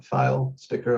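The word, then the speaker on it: Filesticker: a weird last name if you're looking for the pronunciation it's a file sticker like a sticker you put on a filing cabinet um real quick a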